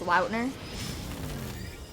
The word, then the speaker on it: Lautner: lautner is very cool did you know his last name's actually pronounced loudner i heard him say